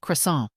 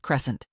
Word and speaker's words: croissant: It's pronounced croissant, not crescent.